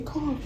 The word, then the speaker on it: caulk: is taking my Friendly Car rhymes with chalk and I'm going over